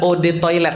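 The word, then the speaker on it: eau de toilette: Eau de toilete artinya adalah od toilet bacanya e atau od itu artinya air toilet ya toilet.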